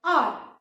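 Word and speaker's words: hour: one spelling H is silent, you do not pronounce H in the word R, है ना, तो हम इसको R ही बोलते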